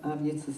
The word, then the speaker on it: AvYitz: And the closest I could come was a celebration of AvYitz's life and a farewell party.